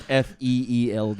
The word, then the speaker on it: Feeld: But it's spelled FEELD. Is that real? Oh, Yeah. Feel. Oh. Oh. Yeah. ew. Yeah, it's like feel it.